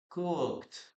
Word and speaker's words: cooked: Now, in this case, what you have to remember, guys, is that the letter E is not pronounced. Okay, you shouldn't pronounce it. Cooked, cooked.